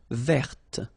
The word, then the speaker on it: verte: Feminine form, verte. So listen carefully. I don't say te, but it's t.